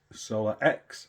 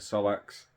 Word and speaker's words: SolaX: one today we're going to be installing this solar X inverter and Battery I've been calling it a solax it's my stupid pronunciation of things it is solar X and